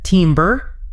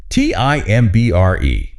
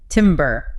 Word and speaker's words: timbre: Timbre. Like you're a lumberjack. Exactly. And that is totally understandable. But please, it's pronounced timbre. Timbre. Like the first part of tambourine.